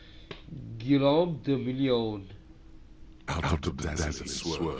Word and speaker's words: Guillaume de Million: Guillaume de Million. If it doesn't rhyme, you're not pronouncing it right. Guillaume de Million.